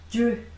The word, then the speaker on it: drew: D, R은요. drew, 그쵸? 근데 이게 드, 룬데요. 합쳐져서 약간 쥬 발음이 더 난다라고 말씀드린 적이 있었어요. 쥬, 쥬, 쥬. AO는 AO래요. AW는 어 발음이 나거든요. 제가 잠깐 써드릴게요. 자, 그럼 이게 쥬, 쥬라는 게 원래 원칙인데 이게 외국인들은 약간 쥬에 가깝게 읽는다고요. 하고 AW는 어 합쳐서 drew 혹은 drew, drew, drew.